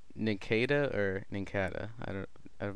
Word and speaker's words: Nincada: wondered is that pronounced nakeda or Nincada I don't I've never known Kata sounds better I actually know what should be in Nincada because it's a ton of cicada which is like a